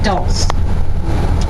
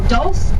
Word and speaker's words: dulse: Now has anyone heard of dulse? No, okay. So dulse is the Gaelic word for seaweed. It rhymes with your pulse.